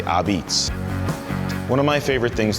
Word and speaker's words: Apizza: People sometimes ask me, how do you pronounce this New Haven style pizza spelled with an A in the beginning? It's an old word, and we say Ubbeats.